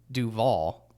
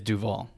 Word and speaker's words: Duvall: of your last name i say duvall it is duvall okay it's not duval oh good all right